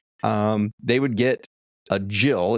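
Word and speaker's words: gill: Um they would get a jill. It's actually spelled g i l l, but pronounced jill.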